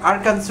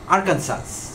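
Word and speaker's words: Arkansas: তো তিনি যুক্তরাষ্ট্রের আরকানসো নামে একটা অঙ্গরাজ্য আছে মার্কিন যুক্তরাষ্ট্রে, আরকানসো। তো এই আরকানসো নামটি বানান করতে হয় যেভাবে, তাতে করে তার প্রনাউন্সিয়েশন আসে আরকানসাস, বাট আসলে ইংলিশ প্রনাউন্সিয়েশন হলো আরকানসো।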